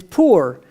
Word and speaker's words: pur: Is pur. How do you say lots, plural? Is purim. Pur is one lot.